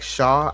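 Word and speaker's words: Shough: Uh, as far as the Saints are concerned, Tyler Shook, but it's pronounced like Shaw.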